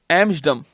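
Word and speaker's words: Amsterdam: बोल देते हैं पर टी साइलेंट है डम है ठीक है एम डम और आर तो साइलेंट होता ही होता है ठीक है तो टी और आर साइलेंट है एमस डम हो गया ठीक है लेकिन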